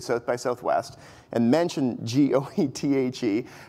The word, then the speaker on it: Goethe: He said, you know, you have to, it's Goethe with a silent R, like in the British.